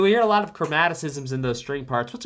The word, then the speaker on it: chromaticism: Chromaticism. Point is, I'm saying it right. Chromaticism.